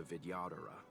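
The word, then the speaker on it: Vidyadhara: true rebirth patching rebirths are specific to the videodera can humans also oh that's how you pronounce that videodera Alchemy Commission the medical principles the novel are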